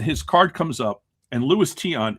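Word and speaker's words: Luis Tiant: and his card comes up and Louisis Tion is pronounced by Jeff Wilson as Lewis Taint.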